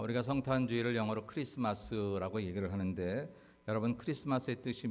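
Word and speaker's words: Xmas: 마스로 읽으면 안 되고 크리스토를 줄여서 그냥 그 알파벳 크만 그렇게 놓은 거니까 크리스마스 이렇게 여러분들이 읽으시면 됩니다 혹시 누가 엑스마스 이렇게 읽거든 아는 척좀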